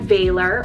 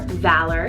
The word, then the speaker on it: Valor: Virtue name here next, we have Valor or Valor, spelled V-A-L-O-R. I've heard it pronounced a couple different ways, but this one means bravery.